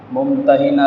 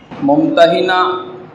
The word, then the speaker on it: ممتحنہ: سورت کا نام سورت ممتحنہ رکھا گیا۔ ممتحنہ اور ممتحنہ اس کے 2 تلفظ ہیں۔ ممتحنہ یعنی وہ عورتیں جن کا امتحان لیا گیا، اور ممتحنہ امتحان لینے والی صورت۔ اس کی پہلی آیت